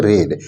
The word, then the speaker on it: read: तो यहाँ पर देखिए जैसे कि है आई रेड, READ, ये सेकेंड फॉर्म है, इसका हम लोग प्रोनाउंसिएशन करेंगे रेड।